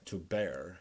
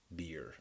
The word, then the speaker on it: bear: the words because like when I tell my students that the word bear - bear actually is the same thing that whatever they're saying in the end of the word play bad they stop calling this word or pronouncing this word as beer because many of my students just a beer for the word to bear but I'll tell them well